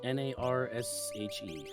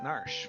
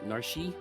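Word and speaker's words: Narshe: in south figaro basement how do you pronounce n-a-r-s-h-e i've always pronounced it narsh for the last i don't even know how many years like 28 years when i first started playing was narshi but uh now i know it's narsh it was pretty nice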